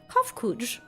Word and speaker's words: Kofkuj: As for nomenclature to address my individual person, I believe it would be pronounced Kofkuj.